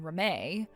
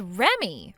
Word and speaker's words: Remy: that as Rome or do you read that as Remy huh You're supposed to read that as re Remy Remy so your name is Remy it's spelled REM but you read it like Remy are you not able